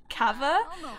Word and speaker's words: kava: keep this our house Cavor carver i think it's pronounced carver but i'm northern so I say kaveh I will try and say Carver for you guys because I feel like